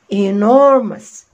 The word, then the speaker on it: enormous: طب نشوف كلمة أصعب كده، أدي إن أو ماس، وبرده هنا الأو يو دي هتتنطق بالساوند أ، تبقى إيه؟ enormous enormous enormous again enormous.